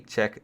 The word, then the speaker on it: Czech: six - excuse me I used to call it chess but then I realized how to actually pronounce it if we ever get a check tree I'd love that